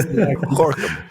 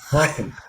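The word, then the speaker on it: Gorinchem: I've been told it's Gorkum. But we have to pronounce it. Yeah, Gorkum. Yeah, it's a hard one. It's Gorkum.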